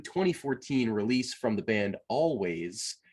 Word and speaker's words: Alvvays: release from the band always spelt with two v's um i and and